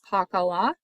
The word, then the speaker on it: Pakal: as three phonetic signs, which is Pakala, read from left to right to bottom, in which the final A is silent. So that's how we get his name Pakal, which means shield.